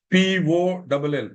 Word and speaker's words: poll: But the minute a poll is demanded, P-O-L-L, poll, pronounced as P-O-L-L, the same way you pronounce P-O-L-E, poll.